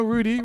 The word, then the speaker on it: Rudi: His name is spelled R-U-D-I. You would pronounce that R-U-D-I. Mm-hmm. Rude. No, Rudi, right? Rudy. Rudi. Yes.